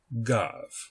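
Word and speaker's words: גו: of a syllable but as a v sound when it is at the end of a syllable such as it is here in the word gov. So this word is pronounced gov.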